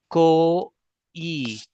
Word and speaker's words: कोई: How I am just pronouncing it. Ko e. This is o. See my lips.